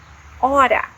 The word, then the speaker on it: hora: Also, we have the word hora, hora, which means hour, hora. So the H here is mute.